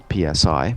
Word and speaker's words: psi: But these abilities, which are commonly called psi, PSI, pronounced psi, or extrasensory perception, they're low-level effects.